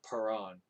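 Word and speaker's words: Paran: then david moved down into the desert of perron this is how you say that now a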